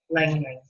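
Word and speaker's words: ylang-ylang: Now, let's go on to another one that's called Lang Lang. Okay, it's spelled Y-L-A-N-G twice.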